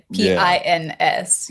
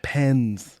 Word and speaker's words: pins: lapel pins the second p i ns yes pins not pens P oh there's a pronunciation different I difference I didn't know Jesse I saw your